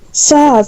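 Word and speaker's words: Sazh: Saz, that's his name. What is it? Saz. Saz? S-A-Z-H. Saz, ha? Saz. Saz Saz. It's got a... Yeah, I'm gonna say Saz. Silent letter, whatever.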